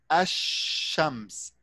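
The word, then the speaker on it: الشمس: as you can see all the L is pronounced here now I will let's see here as shams you can see ash so we dropped the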